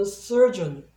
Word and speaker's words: surgeon: 그래서 그 전체적인 발음은 surgeon, surgeon 이 정도로 됩니다.